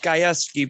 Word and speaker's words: Gajewski: It's pronounced Gajewski, but nobody gets it right.